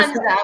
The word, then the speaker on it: Tanger: He's like, you're going to, wait, which is closer to Tanger? Tanger? Is that how you say it? I don't know. Which is closer? Tanja. We say Tanja. Okay, yes, Tanja.